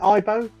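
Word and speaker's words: Aibo: it k90 Furby Tamagotchi or IBO did I pronounce that right IBO yes IBO IO okay yeah so there you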